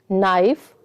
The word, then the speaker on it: knife: Let's pronounce these words: knee, knife, not, no. So what is the common thing? The K is silent.